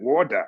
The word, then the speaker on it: water: He said, "In America, when there's a vowel before and after T is pronounced D, so it's called reader."